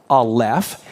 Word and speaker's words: Aleph: For example, you can hear when I say the letter Aleph, you hear the L and the F sound, right? So this is the letter Aleph.